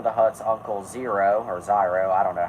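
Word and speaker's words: Ziro: Hut's Uncle zero or zyro I don't know how to pronounce it orchestrate a plant it's pronounced Zer oh so I had it right anyway Uncle zero and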